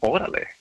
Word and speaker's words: órale: And that set us off into this world of órale.